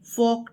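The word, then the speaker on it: folk: तो सबसे पहले हमारी जो फर्स्ट यूनिट है उसका नाम है फेबल्स एंड फोक टेल्स। इसमें यह जो एल है यह साइलेंट है। इसकी आवाज नहीं आएगी।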